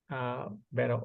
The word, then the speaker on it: Vero: Vero. I mean, did I pronounce it correct? Yes. Vero.